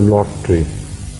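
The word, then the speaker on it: lote: It's called lot or lot tree. Consider the dish, और जिसने देखें इसमें लिखा होगा. We will see it. Huh? How do you pronounce? Lot tree. Yes. L-O-T-E. That's right.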